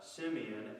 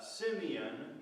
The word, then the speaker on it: Simeon: Then Simeon means heard, hearing. Simon, Simeon. I think it's actually pronounced Shimon.